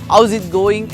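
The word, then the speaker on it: how's it going: ഹൗ ഈസ് ഇറ്റ് ഗോയിങ് എന്ന് എഴുതി വെക്കുമ്പോൾ ഹൗ ഈസ് ഇറ്റ് ഗോയിങ് എന്ന് നമ്മൾ എഴുതുന്നത് ഇംഗ്ലീഷിൽ പ്രൊനൗൺസ് ചെയ്യേണ്ടത് ഹൗസ് ഇറ്റ് ഗോയിങ് എന്നാണ്.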